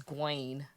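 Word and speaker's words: Gwayne: His name is Gwaine. Ew. Like G Wayne.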